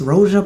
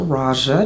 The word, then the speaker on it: Roja: The house is Roa Parfumes or Raja depending on how you say it, but Raja Parfumes from London.